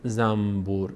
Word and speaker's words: زنبور: می‌کنیم بعد تلفظ می‌کنیم مثلاً میگیم زنبور نمیگیم زنبور سخته زنبور چون مخرج یه کمی زنبور زبون بره به مخرج نون دوباره بیاد به مخرج بم میگیم چون میم و ب هر دو تا از لب ادا میشن شفوی مخرجشون و از لب‌ها ادا میشه راحت‌تره زنبور زنبور اما اگر بگیم زنبور